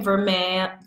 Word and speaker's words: vermeil: and the difference between ver may form a I want to always pronounce the L but it's it's not there the difference between from